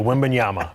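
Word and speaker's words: Wembanyama: so we're going to have to teach you women Yama okayama yeah but you can call him wimby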